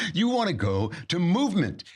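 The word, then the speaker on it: MVMT: want to go to movement which is spelled of course MV MT because how else would you spell movement where are all those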